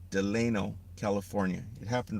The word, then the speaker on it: Delano: Okay, Delano is spelled D E L A N O. Deleno, California.